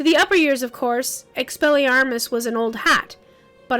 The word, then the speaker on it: Expelliarmus: spent all morning learning expel ermus or rather everyone else had spent all morning learning expelliarmus expelliarmus oh that worded me